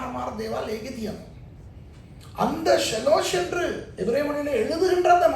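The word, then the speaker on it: שלוש: ஷாலோஷ் කියන එක තමයි පැරණி உச்சாரணை.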